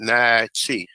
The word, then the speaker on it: Natchez: say you say the name nice nice nasty pronounced naichi all right so although people say it not